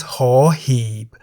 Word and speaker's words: ห หีบ: The Thai consonant ห หีบ sounds like a H at the beginning of a syllable. ห When ห หีบ is however immediately followed by any of these low class consonants, ห หีบ is a silent initial consonant.